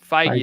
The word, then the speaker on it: Feige: Feige, is that how you say it? Yeah, Feige.